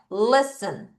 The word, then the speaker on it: listen: 자, 요거 소리가 이렇게 안 나서 따라하세요. listen. 다시 listen. 한 번 더 listen.